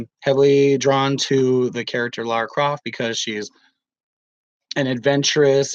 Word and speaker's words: Lara Croft: just mispronounced Lara Croft it's not Laura Croft Lara Croft from what I understand I don't know but basically I know